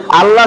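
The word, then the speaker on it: الله: শব্দ করার নিয়ম মাশাল্লাহ আল্লাহ শব্দ পড়ার নিয়ম আল্লাহ শব্দ এখানে মোটা করে পড়তে হয় কিভাবে পড়তে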